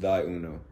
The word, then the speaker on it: ThyUno: is t h y u.o and that is pronounced d Uno so y'all can look it up it's on